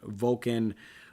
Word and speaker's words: Volkan: Also on that card is Daniel Cormier and Volkan Oezdemir. I said it right. Man, sometimes I have a hard time at pronouncing these guys' names. This guy, Volkan, just sounds like a Vulcan.